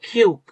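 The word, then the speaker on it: 키읔: এটার অক্ষরটার নাম হচ্ছে খিউক।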